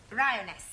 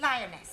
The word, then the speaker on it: lioness: of the following lion roness lioness roness no l l r r you're not saying it right very sorry I know try saying roness lioness good well in future every